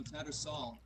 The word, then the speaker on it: Tattersall: It's called Tattersall, like a sailboat. No, Tattersall. Tattersall, sorry.